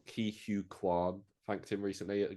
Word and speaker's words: Ke Huy Quan: But Steven Spielberg, Ki Q Han, I said his name wrong. Ki Hu Kwan thanked him recently at the Golden Globes.